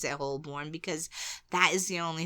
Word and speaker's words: Holborn: really pronounced I will continue to pronounce it hoorn because that is the only thing that makes any sense h o l b o r n hoorn yeah hbor yeah and what is it hun